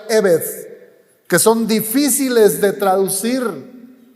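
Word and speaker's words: עבד: En hebreo esta misma palabra se pronuncia eved, que son difíciles de traducir, pero se ha adoptado esa traducción: siervo o esclavo.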